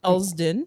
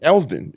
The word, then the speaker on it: Elsdon: uh the hardest community area to pronounce in my opinion elsdon eldon yeah yeah you know that's easy that's not bad wish we made it past easy but it's sd sound yeah yeah yeah none